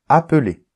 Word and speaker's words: appeler: identiques par exemple appeler quand il y a deux consonnes identiques on les prononce comme s'il n'y avait qu'une seule consonne donc d'accord donc on dit pas appeler on dit appeler exactement comme s'il y avait a P e l e r ok donc quasiment dans